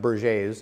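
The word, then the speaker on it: Berger: or in in our country but it's actually pronounced BER J's in in France it's the most common cause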